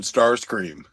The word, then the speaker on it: Starscream: Well, Sautnar thinks that Soundwave is better than Starscream. But if you read I think we mispronounced his name the wrong the whole time. It's Stars plural cream.